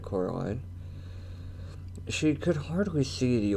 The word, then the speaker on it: Coraline: name wrong you know they keep saying coraline not caroline not caroline not at all he picked up a